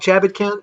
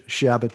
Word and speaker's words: Chabot: yeah i call it i pronounce it chabot you know uh but you're you're spelling it it's americanized it was shabbat but i i'm i'm kind of a feeling a little french and i call myself